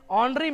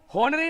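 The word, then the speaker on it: honorary: सी इज ऑनरेबल, ऑनरी member, है ना, सम्माननीय सदस्य, तो यहां पर देखो, पढ़ के देखो, ऑनरी होनरी नहीं है, ऑनरी है, आराम से हम लोग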